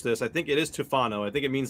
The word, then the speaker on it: Tufano: Her name is technically pronounced Tufano.